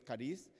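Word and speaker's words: χάρις: La palabra en griego es cariz, se escribe chariz y significa don, regalo, dádiva, algo que nosotros recibimos, pero que nosotros no lo merecemos.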